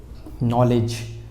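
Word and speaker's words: knowledge: ऐसे ही एक वर्ड है नॉलेज, मगर ये क्या लिखा होता है, नॉलेज, इसमें क्या साइलेंट है, के साइलेंट है, तो इसको क्या पढ़ेंगे हम, नॉलेज।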